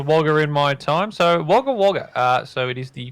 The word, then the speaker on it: Wagga Wagga: which is pretty nice so now you can pronounce it i've heard the premium francis so it's wagga wagga waggham it's there's always everyone here's wagga wagga